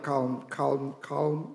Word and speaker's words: calm: Kay sa madisturbong uban, pero karon ni kalma na ko eh, kay the story of Andrea, calm silent L pala yan, ano, calms me.